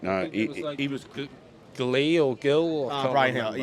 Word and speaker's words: Gil: He was Glee or Gill. I can't Brian remember, Hill. Yeah, it's pronounced Hill with a silent G.